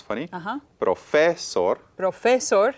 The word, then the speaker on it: profesor: Profesor sounds funny. y profesor. Profesor. And you're good enough now that you can recognize profesor, Muy with bien. stress at the end, is the correct way to pronounce it.